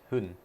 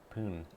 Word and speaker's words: 分: Hun. 分。 Chi. 1。分 Pun. They're pronouncing that as if it's after a 3 or a 1. Ippun.